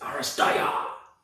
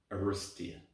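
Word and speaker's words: Aristeia!: from corvus belly uh that is spelt a-r-i-s-t-e-i-a exclamation mark don't forget the exclamation mark because that's like it's aristaiah not arustia which i hear people saying and it drives me nuts aristaia i've taught my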